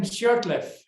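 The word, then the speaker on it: Shurtleff: William Shirtleff.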